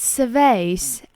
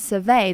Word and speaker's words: survey: it's back as it's surveys so when as you are v ey is used as a verb it is pronounced survey the stress is on the second syllable but when is it